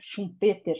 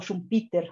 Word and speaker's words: Schumpeter: Entonces, es la innovación tecnológica, y es un economista austríaco, Joseph Schumpeter, ¿no? O Schumpeter, dependiendo de la pronunciación del alemán de cada uno de nosotros ahí, ¿no?